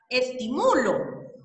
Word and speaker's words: estimulo: Estimulo dice ahí, ¿verdad? Porque la fuerza o la sílaba tónica la hago en mu.